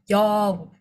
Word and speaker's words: 여우: 여우. Oke, bacanya 여우. Kayak satu kesatuan, sama. Bukan 여우, tapi 여우. Oke, jadi kayak disambung gitu ya.